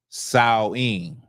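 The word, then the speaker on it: Samhain: So, Halloween, as y'all know, Halloween is uh Sam Hayne. Now, the way it would have been pronounced is sawing. Okay, sawing. But because I don't feel like doing all that, we're just going to say Sam Hayne.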